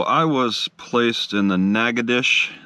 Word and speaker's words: Natchitoches: was placed in the naga dish that's how you say it not nachitosis it's negadish i learned this from an